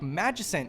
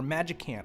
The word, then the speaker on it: Magicant: the screen, which is great for things like Magicant here, or Magicant. I know that most of the internet likes to pronounce it Magicant.